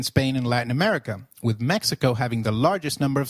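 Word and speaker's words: México: While X is usually pronounced as X inflexible, it is pronounced as a throaty H in the words Mexico, Mexicano, and Oaxaca, which is a state in Mexico.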